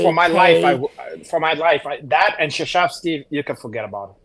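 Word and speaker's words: Krzyzewski: Like for instance, Coach K, like Shashevsky. Right. Just know that. Don't try to spell that one.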